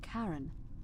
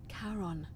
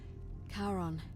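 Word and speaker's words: Charon: Only your pronunciation is a little off. The name you heard wasn't Karen. It was C H A R O N. I knew it. As in Karon, the fairerryyman of the dead.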